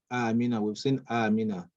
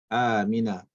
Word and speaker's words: Amina: mother is okay now Amina okay so when we're here I mean I mean the pronunciation is the correct pronunciation is actually ah I mean not Amina okay ah Mina then we have Usman